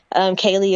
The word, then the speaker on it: Kaleigh: Kaylee is spelled KALEIGH 1103.